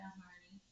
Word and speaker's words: Harney: For the Harding and Sons Indigo Punch. Yeah, Harney. Or Harding. I always want to say the name wrong.